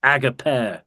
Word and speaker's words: agape: I think agape is really my ancient Greek teachers in the UK always pronounced it agape, by the way.